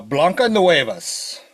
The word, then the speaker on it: Blancanieves: You would say it as uh Blanca Noeas.